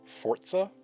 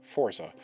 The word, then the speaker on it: Forza: it's my understanding that because this is an Italian word it's actually pronounced Forza and not Forza which is what I